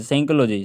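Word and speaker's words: psychology: बता रहे हैं प प एस से पहले आया पी सेलेंट होता है एस से पहले अगर पी आए तो प साइलेंट कहलाता है जैसे कि प साइलेंट कहलाता है जैसे कि है ना सैकोलॉजी सलज साइकोलॉजी साइकोलॉजी ठीक है इसे हम पजोल जीी नहीं पढ़ेंगे है ना फिजियोलॉजी नहीं पढ़ेंगे हम इससे हम साइकोलॉजी पढ़ेंगे फिजियोलॉजी नहीं पढ़ेंगे हम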